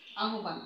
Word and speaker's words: আহ্বান: আহ্বান আমরা গত ক্লাসে এটার উচ্চারণ শিখেছিলাম যে উচ্চারণ হবে আহ্বান। কেননা আমরা জানি যে হয়ের সঙ্গে ব যুক্ত হলে ব মহাপ্রাণ রূপে উচ্চারিত হয়।